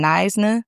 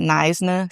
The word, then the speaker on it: Knysna: It is in Nisna, South Africa. That is how you pronounce that. Nisna, South Africa.